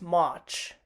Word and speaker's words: March: we've got march so the same thing applies here the r is silent as well so instead the way like we usually pronounce it is march march and then we've got